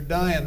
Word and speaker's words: Dion: Dr. Dion rhymes with lion.